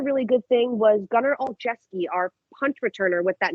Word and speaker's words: Olszewski: Olszewski. Olszewski. Okay. He sounds like a hockey player. Yeah, he does. It's spelled like a hockey player.